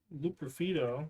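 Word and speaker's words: Loperfido: Austin Stack, Greg Thomas, Ozzie Smith, Joey Luperfido.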